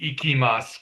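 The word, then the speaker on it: いきます: This phrase here, the first question, doko ni ikimasu ka? Let me just pause there. When I write it in Romanized form, iki, remember that I sound is pronounced as an E, ikimasu.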